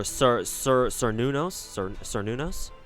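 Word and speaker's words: Cernunnos: Yeah, Celtic doesn't have any soft C's; they have hard C's. So yeah, pronounced with hard K's, or like hard K's. So yeah, Cernunos, not Cernunos.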